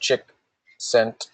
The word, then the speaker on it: Csikszentmihalyi: One's named Martin Seligman, and the other's name is Mihai Csikszentmihalyi. Again, he's got a lot of vowels and consonants and stuff. It's just pronounced Csikszentmihalyi.